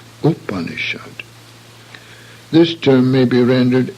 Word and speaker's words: Upanishad: under tsongkhapa in sanskrit the initial sound is always short and should not be pronounced as the english word you therefore not move upon assured but Upanishad this term may be